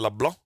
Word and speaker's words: LeBlanc: I'm gonna choose this guy named Kevin LeBlanc because he has a South Louisiana name. Kevin LeBlanc. That's how you say it in Cajun.